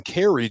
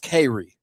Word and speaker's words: Cary: Well, it's kind of pronounced Cary, you know. How you, C-A-R-Y? C-A-R-Y, but they kind of say Cary down there.